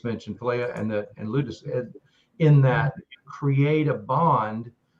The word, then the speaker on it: ludus: share the next one i think it's pronounced ludus l-u-d-u-s and it's playful love